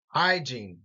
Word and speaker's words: hygiene: nutrition hygiene diet now as hyene and diet have first syllable emphasis hygiene diet the next four